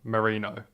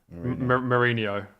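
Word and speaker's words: Merino: your pronunciation of Mikel Marino what is it Marino I think you said Mourinho you said Mourinho he's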